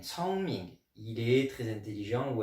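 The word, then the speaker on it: 聪明: est le verbe adjectif 聪明. 聪明, attention à la prononciation, le C en chinois se dit comme un TS, comme les cigales, tss, tss, tss, tss, et non pas 公明.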